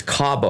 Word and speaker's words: Cabo: It's Cabo.